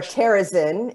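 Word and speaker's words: Terezín: Okay, so that camp is called Theresienstadt in the German pronunciation. My apologies to everyone. Yep, or Terezin if you're saying it in the Czech version.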